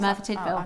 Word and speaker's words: Merthyr Tydfil: It just is spelled. I don't know if I've even said that. No, that is right. Merthyr Tydfil.